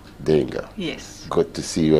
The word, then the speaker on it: d'Engle: Help me pronounce it. Dengo. Dengo.